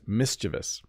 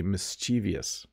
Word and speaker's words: mischievous: in a lesson and the first pronunciation I gave was wrong this is mischievous so this kid has a slingshot and he looks a little bit mischievous but a lot of English speakers will say mischievous which is totally wrong